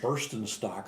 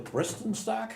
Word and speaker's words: Bristenstock: Oh, for years I pronounced it Burstenstock or something like beer, but it's really Bristenstock?